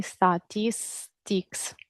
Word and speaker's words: statistics: Statistics.